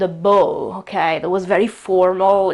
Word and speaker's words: beau: uh in French and the spelling is the French spelling. So it's b e a u but the pronunciation is bo and it was used